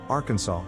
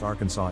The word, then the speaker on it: Arkansas: with the finals silent, the A in each syllable with the Italian sound, and the accent on the first and last syllables.